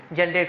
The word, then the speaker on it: Johann: आगे देखो, एक यहाँ पे फिलोसोफर्स थे, जर्मन फिलोसोफर, जिनका नाम था जॉन गॉटफ्राइड। बोलते हैं जॉन, स्पेलिंग है जोहान, स्पेलिंग याद रखना जोहान, JOHANN, जॉन गॉटफ्राइड।